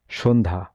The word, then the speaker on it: সন্ধ্যা: কোন শব্দে জ ফলা থাকলেও জ ফলার মতো উচ্চারণ হয় না? সন্ধ্যা।